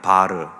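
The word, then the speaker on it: בר: 이름 앞에 헬라어 아람어로 발음이 바르입니다. 바르. 이 바가 붙으면 누구누구의 아들이라고 하는 의미입니다.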